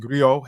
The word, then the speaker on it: griot: A Griot, pronounced Griot, have been referred to as